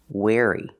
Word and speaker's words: wary: or bad for you wary pronunciation wary using the air sound like chair and hair where where like where is my car or I wear clothes wear wary be wary